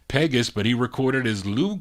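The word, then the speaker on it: Pegues: I said it right, Pegas, but he recorded as Lou Courtney.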